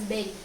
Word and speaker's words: Bury: So khasma chai English ma BURRY le chai it is pronounced as Berry. Okay, Berry, Bohr-Berry scheme.